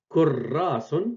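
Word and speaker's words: كُرَّاسٌ: Au lieu d'écrire alors Kurrasun, Kurrasun, on écrit Kurrasun une seule fois. On met shed au-dessus.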